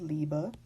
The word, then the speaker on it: Liebe: let's take this word this is the word liebe the bee is pronounced like a bee because the B is not final in the word it's the word for